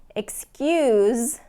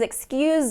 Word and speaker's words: excuse: game was very close excuse please excuse me and he gives a lot of excuses excuse that's not a good excuse defuse please defuse this